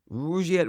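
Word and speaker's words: Rugiet: And Rouette is spelled r u g like rug and I t.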